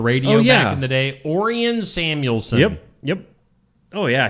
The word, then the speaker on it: Orion: Orian Samuelson. Yep. Yep. Oh, yeah. He was Why didn't he just call himself Orion? Cuz that's not how they pronounced it.